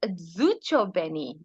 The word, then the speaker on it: Zozibini: And what about our own Zozibini Tunzi of India, So it's Zuchobeni? pronounced Zuchobeni. Zuchobeni. Zucho, yeah.